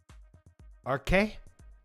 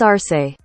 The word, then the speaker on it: Arce: A-R-C-E. Anybody got a really good guess at how to say that? Arque? That's Arque? Louis Arque? We'll look it up. Because we like to learn. Give me a phonetical pronunciation. Luis Arce. Arce. Luis Arce.